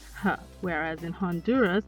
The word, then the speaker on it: Honduras: can be maintained for example in hawaii it's pronounced ha whereas in honduras it's silent honduras e sounds like the double e letter combination